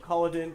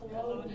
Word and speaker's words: Culloden: So just to get back to some of the history, this is the Battle of Cullidan. Is anybody familiar with this? Culloden. How do you say it? Culloden.